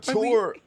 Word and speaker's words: couture: Couture.